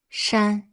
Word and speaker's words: 山: Its pronunciation is 山 It means mountain, as well as things that resemble a mountain.